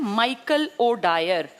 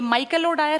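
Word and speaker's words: O'Dwyer: उस आदमी का नाम था, ये माइकल ओ डायर है ना, ऐसा ऐसा ही उसका नाम है, आर डायर। इसके डायर की स्पेलिंग देखना, DYER, वो DWYER, दोनों बोलने में एक जैसे हैं डायर, लेकिन वो माइकल ओ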